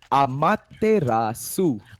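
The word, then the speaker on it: Amaterasu: Like, how could you mispronounce that name for so long, RG? I asked him on Steam. He said Amitaras. Okay. I'm like, okay, fine, cool. I'll go with that.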